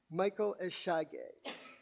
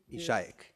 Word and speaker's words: Ishayek: The next question is Eshage. I hope I pronounced it right. Your last name? Ishayek. It's Chayek in Hebrew.